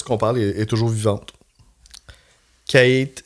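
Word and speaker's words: Cait: Kate, là, c'est dur à être prononcé là. C A I T là.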